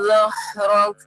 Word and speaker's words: ظهرك: Ya, pada ayat ke-3 pengucapan huruf zo ya diperjelas ya. Nah, tadi tidak terlalu kedengaran penyebutan hurufnya.